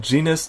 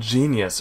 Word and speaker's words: Genus: That's what's new from the team at Genus Technologies, Inc. I might have said Genius earlier, but this is Genus or Genus. G-E-N-U-S.